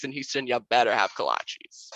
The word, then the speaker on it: kolache: Houston, you better have kolaches. I always thought they were called collages. Is that not true? Well, maybe that is the correct pronunciation, but down here you definitely say kolache.